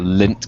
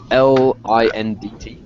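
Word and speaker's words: Lindt: Belgian chocolate I believe how do you spell it l i n DT oh Lind okay cuz you know I was thinking lint like belly button lint you know oh that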